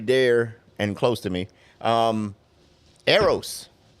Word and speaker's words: Aerros: But anyway, I want to, bring our guest on, very dear and close to me, Eros. Oh, that's how you pronounce it. Yeah, Eros.